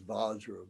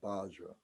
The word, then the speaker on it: Vajra: They don't have a V sound in their vocabulary, in their alphabet. There's no V sound, so they use the ba sound is, and then we translate it as Vajra, but they pronounce it as Bajra.